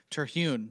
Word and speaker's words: Terhune: Brent Terhune I mean to me am i pronouncing Terhune right sure yeah I say Terhune so ternoon yeah you obviously adopted the name